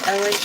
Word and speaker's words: Elay: My name is Elay, pronounced like LA like the city.